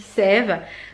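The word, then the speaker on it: The Saem: la marque sème donc ça s'écrit saem et ça se dit sève donc c'est une marque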